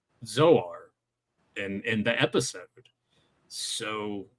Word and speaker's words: Zoar: And yeah, much like Tyler said, though, He-Man says Zoar in the episode.